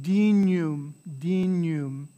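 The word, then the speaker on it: dignum: that kanye sound canyon the gn is that nya sound right dinum right like the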